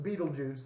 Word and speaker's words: Betelgeuse: you don't know it's the supermassive star it's pronounced Betelgeuse it's not spelled like the TV right it's